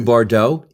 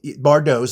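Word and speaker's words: Bardots: Stuff new Bardaux. Bardos. Like Bridget Bardau. Yeah, sure. But it's spelled Bard Dots. B A R D O Ts.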